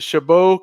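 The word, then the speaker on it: Chabot: decided to go to uh what was it shabo college is that how you pronounced it yeah I first I went to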